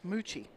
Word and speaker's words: Meucci: to the Revo shaft Martin Riggs says Meucci no he says Moochie Moochie he spells it like people pronounce it Moochie Moochie you have